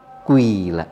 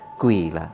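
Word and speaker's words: قيل: Kila dibacanya quila ya. Kila dibacanya dengan quila.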